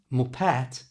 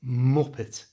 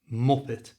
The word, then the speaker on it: muppet: Notice in the pronunciation of the word muppet, all the strength, all the emphasis is at the front of the word m. So it's not muppet, it's muppet, muppet.